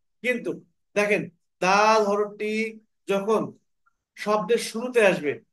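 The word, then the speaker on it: دال: জিহ্বার আগা সামনের উপরের দাঁতের গোড়ার সাথে কি করতে হবে, লাগিয়ে দাল হরফটিকে উচ্চারণ করতে হবে। কিন্তু দেখেন, দাল হরফটি যখন শব্দের শুরুতে আসবে তখন কিন্তু এভাবে আসবে।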